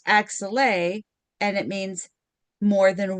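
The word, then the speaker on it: axillae: And when you change when you add an e at the end of axilla, it's pronounced axel and it means more than one armpit.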